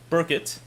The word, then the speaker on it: Burkett: Burkett is how it's pronounced.